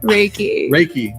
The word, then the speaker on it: Reiki: Okay, so you're a Reiki. How do you say it? Reiki? Reiki.